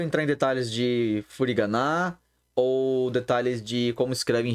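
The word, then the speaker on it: を: Comecei os estudos, né? Comecei os estudos. Benkyou shi hajimemashita. Tá bom? Logo, nós vemos uma partícula o, que se escreve W-O.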